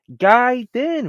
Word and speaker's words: Gaiden: a guid no bro it's pronounced guid then for real so why